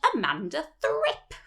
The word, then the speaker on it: Amanda Thrip: So she confronts a girl called Amanda Thrip for wearing pigtails. You've got to say it like that, by the way, because that's how Pam Ferris says it in the film.